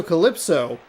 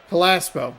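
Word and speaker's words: Callaspo: Alberto Calypso at third base. Calaspo. I always say his name wrong.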